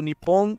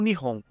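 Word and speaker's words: 日本: usando esses caracteres kanji e pronunciado Nipon ou nihon vou pronunciar muitas coisas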